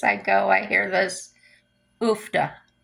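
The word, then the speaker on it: uff da: till every place I go, I hear this oofda, oofda. It is spelled UFF hyphen DA.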